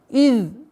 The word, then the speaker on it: إذ: Из. Обращаем внимание на произношение из. Межзубное произношение эзаль. Из.